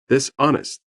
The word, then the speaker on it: dishonest: G is silent. Dishonest.